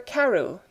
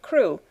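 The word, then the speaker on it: Crewe: the name madame pascal pronounced it as if it were karu instead of crew but that might be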